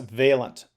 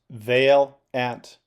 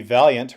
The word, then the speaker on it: Valent: just thought to share the proper pronunciation of my last name in English and that's a valent Vale ant so valent growing up a lot of people call me valiant ron valiant and valiant I'm perfectly